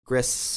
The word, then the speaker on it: Gris: digital Oh interesting great some people say it's pronounced Gris I think it's grease is my name but I don't